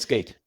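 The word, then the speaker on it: SCAIT: um skate spelled s c AI T and pronounced skate and it stands for speaker coaching was in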